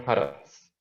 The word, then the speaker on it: Hertz: Satuan frekuensi itu tulisannya Hz, dibacanya Hertz.